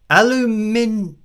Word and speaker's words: aluminium: we have in there I mean we say it how it's spelled aluminium aluminium that is how